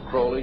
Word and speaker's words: Crowley: about was Alistair Crawley he likes to have his name pronounced Crowley to rhyme with holy and uh the Satan